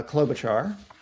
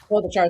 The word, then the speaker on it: Klobuchar: Clo- Klob- Klobuchar from Minnesota. uh Klobuchar. Klobuchar, thank you.